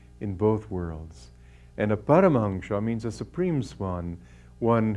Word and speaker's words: Paramhansa: His name was Paramhansa, or the way they pronounce it in Bengal, Paramhansa.